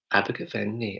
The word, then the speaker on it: Abergavenny: have a given knee so in London we would say Abergavenny a burger belly but then in Welsh accents because their knee abaca funny and it's like up and down with it so no